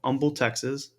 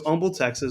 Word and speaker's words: Humble: place in Texas called Umble Texas it's actually is if you've never heard of it it's actually spelled humble um but the H is silent in Texas I found found out